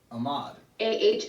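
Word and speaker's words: Ahmaud: So, Muslim name, I would pronounce it Ahmed, but Ahmed? Ahmoud. Let me see, where is it? Ahmad. Ahmoud. It's Ahmad.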